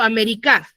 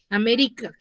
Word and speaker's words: América: que ese esdrújula que su mayor fuerza de voz está en la antepenúltima sílaba Cómo pronunciaré América amé